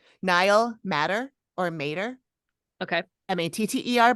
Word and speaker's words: Matter: Matter, but I heard someone else pronounce it Mater.